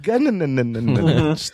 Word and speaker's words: Gunn: It's pronounced Gunn.